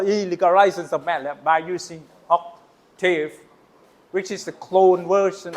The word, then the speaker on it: Octave: get used to uh Octtowwer you know OC tower Octave in English. Sorry. Octtower is the pronunciation in German.